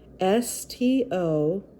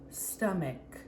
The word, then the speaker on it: stomach: here this area stomach s-t-o-m-a-c-h stomach stomach now you may notice it ends with a ch but we do not pronounce it cha like usual like church it's just pronounced like a k stomach number seven right